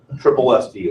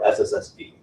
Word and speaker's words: SSSD: So there's a lot of debate about how to pronounce it. Some people say it's SSSD, which I find kind of, well, it's tough to say, where I'd rather just say triple SD.